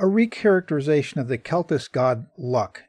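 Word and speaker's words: Lugh: It's also possible they are a historically around the 12th or 14th century, I guess, a recharacterization of the Celtic god Luck. It's spelled L-U-G-H.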